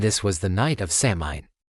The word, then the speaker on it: Samhain: This was the world of the Selts and this was the night of Seamine. Pronounced soen.